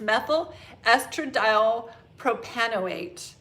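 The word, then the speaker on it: methylestradiol propanoate: m-e-p m-e-p stands for methyl estradiol propionate propofonate it's a tough one you'll see um when you look at the name of that how to pronounce it i'm going to look at it now on my screen so i make sure i get it right it's methyl estradiol propanoate and we shorten that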